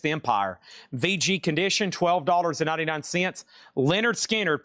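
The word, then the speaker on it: Lynyrd Skynyrd: Leonard Skard pronounced Leonard Skard.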